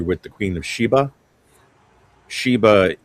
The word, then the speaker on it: Sheba: And if you are familiar with the Queen of Sheba, Sheba is the Hebrew pronunciation of Saba.